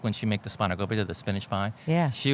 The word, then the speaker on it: spanakopita: And just say it for me because I know I don't say it right. Spanakopita? Yeah, see, Yeah. spanakopita. Spanakopita. Yeah.